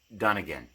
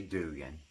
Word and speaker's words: Dunnigan: to even say Kyle Dunnigan okay but you say it because that's his name that's how you do things you say his name you don't say Dugan It's not Dugan I don't know what